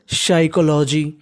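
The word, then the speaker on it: psychology: अब आपको बता दूं पीएस वाई अगर आपको कहीं पर इंग्लिश में लिखा मिल जाए तो जो पीएस वाई का जो पी होता है वो कैसा होता है साइलेंट फिर सीओ इसे पढ़ेंगे को तो क्या बन जाएगा साइकोलॉजी क्या बन जाएगा साइकोलॉजी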